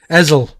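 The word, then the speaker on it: Hessle: You don't pronounce the H, you know. Hessel.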